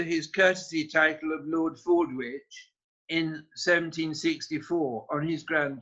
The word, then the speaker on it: Fordwich: Lord Cooper, 1738 to 1789, arrived under his courtesy title of Lord Fordwich in 1764 on his grand tour. The Italians couldn't pronounce Fordwich, so they called him Milord Forbici, or Lord Scissors.